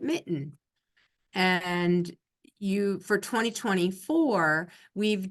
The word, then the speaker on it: MiTN: new electronic filing system which is called Michigan transparency Network and we pronounce it Mitten and you for 2024